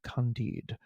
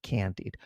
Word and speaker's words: Candide: There's a very famous radio station where they had an announcer say, "And that was the overture to Candide, not Candide, Candide by Leonard Bernstein."